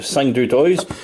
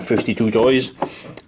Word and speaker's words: 52Toys: Donc c'est une autre figurine de 5-2 Toys, communément comme je les appelais tout le temps 52 Toys, mais à 52 Toys. Et ils m'ont écrit me dire que ça se prononce 5-2 Toys.